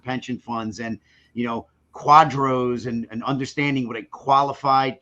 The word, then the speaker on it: QDRO: people who do the quadros right quadro's q-u-a-d-r-o that's how you spell it right cute we we usually say qdro but we use necessity